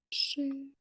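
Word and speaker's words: 是: Щи. Четвертым тоном. Ши.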